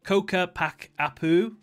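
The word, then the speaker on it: Ccapac Apu: Earthbender Mortal, Asila Pisku, Earthbender Mortal, Koka Pak Apu, Earthbender Mortal, Koka Ria.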